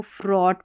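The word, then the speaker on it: fraught: हो रहा, इन स्पेलिंग्स में जी एच का उच्चारण नहीं हो रहा है। इसको बॉट, थॉट और इसको फ्रॉट पढ़ेंगे, और यहाँ पर इसको ड्राउट पढ़ेंगे, ठीक है।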